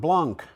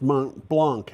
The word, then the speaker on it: Blanc: a picture of Mount Blanc although I think it's not pronounced Blanc in French because they tend to drop those letters off it's probably Mount Blanc uh-huh okay it isn't